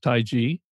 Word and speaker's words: Taiji: in the past pronounced Taiji correctly it is G not Chi and that's some from